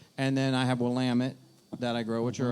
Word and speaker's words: Willamette: well um that's for definitely for sure it's pronounced willamette by the way willamette willamette how many breweries have there been in spokane